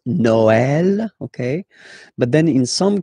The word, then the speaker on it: Noël: The last one, tréma, well, basically it's quite rare, and the tricky thing is that in some cases you will have to pronounce it like eh, okay? Like, for instance, Noël, okay?